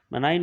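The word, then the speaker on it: marine: भी पाए जाते हैं, मराइन वाटर बोले या कहीं कहीं आप इसका प्रोनाउंसिएशन मरीन भी सुनेंगे, तो ये बेसिकली जो सी वाटर होते हैं वही होते हैं, और टेरेस्ट्रियल एल्गी भी होते हैं।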